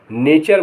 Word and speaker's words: nature: टी के बाद URE आए तो टी का उच्चारण चा होता है। जैसे QUESTION क्वेश्चन, क्वेश्चन माने प्रश्न। CULTURE कल्चर माने सभ्यता। NATURE नेचर माने प्रकृति।